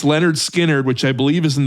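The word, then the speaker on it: Lynyrd Skynyrd: First one is pronounced Leonard Skard. It's Leonard Skinnard, which I believe is in the 400s.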